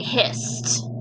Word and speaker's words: hissed: Alright, hissed. Does that make the d sound or the t sound? Hissed. Yep, talking test again. A lot of them with the t sound at the end, right?